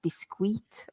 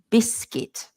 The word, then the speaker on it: biscuit: of the word biscuit when people see the U sometimes people try to say things like biscuit or something like that which I think is like a French word as well and a Spanish word as well biscuit but we don't say it like that so we say biscuit so just ignore the U and just think of it biscuit biscuits and cookies you